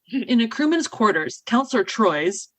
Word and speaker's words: Troi: a crewman's quarters counselor troy's pronounced like trois pronounced like the french three is speaking to a